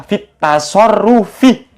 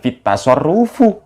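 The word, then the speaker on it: في التصرف: Kalau lafaz at-tasarruf kemasukan fi, bacanya fit tasarrufi, bukan fit tasarrufu.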